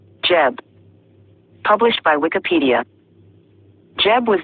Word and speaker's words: Geb: to grow name the name was pronounced as such from the greek period onward and was originally wrongly read as seb the usual egyptian name was jeb perhaps the lame one it was usually spelled